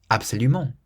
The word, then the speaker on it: absolument: Absolutely is absoluMENT, absoluMENT. So we stress the ment at the end, absoluMENT. So it's not absoluMENT or absoluMENT, it's absoluMENT.